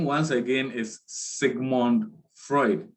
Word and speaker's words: Freud: talking about is sigmund freud so the name once again is sigmund freud we don't pronounce it as fruit okay and he is